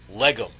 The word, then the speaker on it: Legum: Plus gum minus that second G. So the name is Legum.